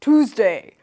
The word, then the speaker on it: Tuesday: And then he said, oh, it's not Tuesday, it's TOOZ-day. TOOZ-day, without the Y sound.